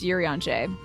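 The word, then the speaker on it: Urianger: Actually, it's pronounced Yuri on Jay.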